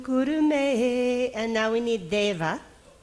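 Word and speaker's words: देव: So Deva is non-aspirate dental da. Everybody pronounce Deva. Deva.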